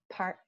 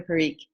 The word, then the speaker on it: Parikh: Next, I'll ask Park. Pardon me. Sorry if I didn't pronounce that correctly. Hi. That's okay. It's Parikh. Parikh, thank you.